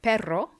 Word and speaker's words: perro: something about this word perro is dog but if you spell it with one ere in the middle looks like the spanish p-e-r-o it's pero and it means but or however so it's really important to practice your pronunciation so that you can distinguish between the two words let's move on to